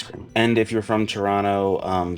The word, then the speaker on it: Toronto: And if you're from Toronto, um sorry for pronouncing the second T uh so many times in this video. I know I'm not supposed to do that, but I did it anyway.